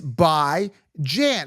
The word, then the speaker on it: Bijan: It's not Bijan. It's bi. Let me repeat this. It's bi as in bi-weekly. You don't say bi-weekly, bi-weekly, bi-weekly. And Jan, take a look, Jan, it's basic English. Jan as in ran, as in tan, as in fan. It's by Jan.